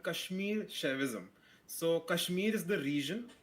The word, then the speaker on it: Kashmir Shaivism: So how is this pronounced your your branch of religion here? Yeah, it's called Kashmir Chavism.